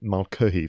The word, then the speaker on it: Mulcahy: but also you know the director russell and malcolm that's how you pronounce his name this was his second feature